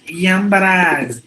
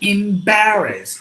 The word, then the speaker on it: embarrassed: should be e enclosed not yambaraz it should be embarrassed e in Paris not a as in elephant it should be e as in ink e as in India